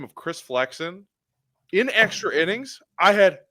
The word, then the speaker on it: Chris Flexen: It's Chris Flexen.